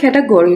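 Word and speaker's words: category: भी होता है और कैटेगोरी भी होता है। ठीक है? अगर यूके की आप बात करें तो ये कैटेगरी है और अगर आप यूएस की बात करें तो इसको प्रोनाउंस किया जाता है कैटेगोरी।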